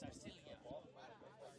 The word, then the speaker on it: Arcilla: My niece and nephew here from the Philippines, I tell you. What'd they say? It's Arcilia.